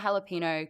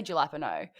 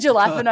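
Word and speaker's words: jalapeño: The Cheetos in the cheddar jalapeno crunchy. Now, I have always said as a joke, I pronounce this phonetically, so I say jalapeno to my friends.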